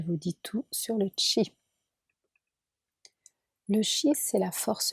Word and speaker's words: chi: Ça s'écrit C-H-I et ça se prononce Qi.